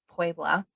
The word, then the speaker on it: Puebla: to a Native American Puebla. Am I saying it right? You know Pueblo. Mm-hmm. Pueblo. Pueblo. And he's speaking Spanish with an English accent. Puebla. Puebla. There you go.